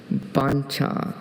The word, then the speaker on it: bancha: Bancha. Is there any other pronunciations?